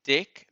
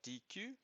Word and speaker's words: deque: the collections module so it is pronounced deck like as in a deck of cards not dq so let's first import